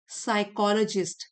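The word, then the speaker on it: psychologist: बहुत ज्यादा एज साइकोलॉजिस्ट P silent है।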